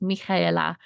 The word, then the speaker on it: Michaela: today's guest we have Michaela but her real name in her native tongue is pronounced Mika and I just really